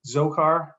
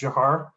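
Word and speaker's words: Dzhokhar: and eventual conviction for a death penalty for Jahar Sarnaev. So it looks like Zohar, but it's actually pronounced Jahar.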